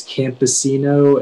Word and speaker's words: campesino: uh your word is campesino camposino may have all the information yeah so the only pronunciation is campesino it's and now and